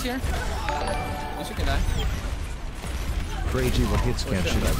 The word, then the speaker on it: Kragie: It's Kragie.